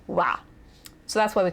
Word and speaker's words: は: But anyway, as you'll note, the particle wa is written with the hiragana ha, but it is pronounced wa.